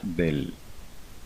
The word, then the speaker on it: del: El símbolo se pronuncia del, solamente del, o también se conoce como nabla.